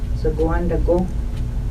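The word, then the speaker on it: Zaagagwandago: Z-A-A, za, G-A, zaga, G-W-A-N, D-A-G-O, dago, zaguan dago, niniuk, N-I-N-I, nini, that's a man, men, nini, N-I-N-I.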